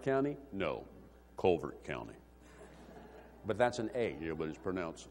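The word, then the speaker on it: Calvert: going to live there in Louisville it's like Calbert County no Culvert County but that's an a you're but to pronounce u Culvert anyhow in the uh in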